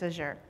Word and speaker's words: Azure: or Azure I guess where I'm from I'll say Azure but it could be I think the official pronunciation is aure so a little bit